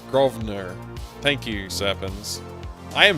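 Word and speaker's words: Grosvenor: The S is silent in Governor Gro Grovener.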